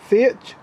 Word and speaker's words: Fiat: Fiat 500.